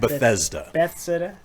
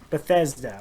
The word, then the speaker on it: Bethesda: Bethesda. Bethesda.